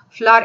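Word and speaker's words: FLWOR: So the starting letter of all these keywords form a word, flower, and it is pronounced as flower expression.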